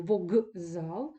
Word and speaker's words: вокзал: виступає пам'ятаєте Ґ х Ми ми вимовляємо вогзал але повинні писати букву к і це запам'ятати треба